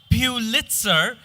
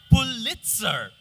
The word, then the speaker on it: Pulitzer: It's not Pulitzer, it's Pulitzer. Robert's eyes took another survey of the room.